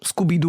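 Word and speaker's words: Scoubidou: Scooby-Doo.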